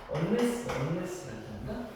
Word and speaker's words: unless: 이거 발음 언니 아니고 unless라고.